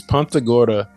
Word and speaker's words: Punta Gorda: that um but okay Punta Gorda is that how to say that like punt Punta Gorda hey I learned I just learned how to say it it's Punta Gorda gordas and Spanish is